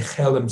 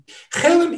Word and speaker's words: Chelm: And he came up with beautiful adaptations of the Chelem story. Chelem is a perfect example of what Yiddish is.